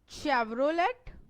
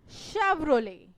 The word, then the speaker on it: Chevrolet: Chevrolet or Chevrolet? No, we call it Chevrolet.